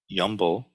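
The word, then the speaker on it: 염불: Yumbo, which is the Korean pronunciation of Nyanfo or Nembutsu, just means mindfulness of Buddha.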